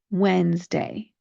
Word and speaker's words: Wednesday: Try not to focus on it and think of the spelling as being Wenzday. Wednesday.